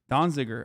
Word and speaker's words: Donziger: 45 days in prison as well um completely donziger i'm saying it right okay everybody shut up